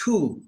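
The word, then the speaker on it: Ku: like God damn it it's not clue damn it it's just cool cool just cool you know so it's a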